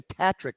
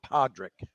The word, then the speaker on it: Patrick: I actually read your Facebook pronunciation today, and it's actually Patrick, not Podrick.